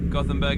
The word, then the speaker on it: Gothenburg: It's basically Gothenburg in English, or Göteborg in Swedish if you want to be fancy.